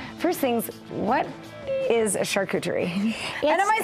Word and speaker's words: charcuterie: First things, what is a charcuterie?